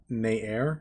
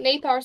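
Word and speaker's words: Nathair: The name is Nair. The T is silent because Gaelic names. It's good to know. I've been pronouncing it Nathar since I took that spell months ago.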